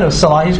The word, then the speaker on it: Salahis: No, Salahis correct.